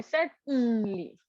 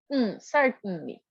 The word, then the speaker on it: certainly: So we say certainly, like mountain or fountain. We say tn, certainly.